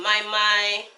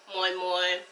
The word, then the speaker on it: Moi Moi: Again, today's recipe is moi moi. Some people pronounce it mai mai, moi moi, bean cake, but it turned out perfectly.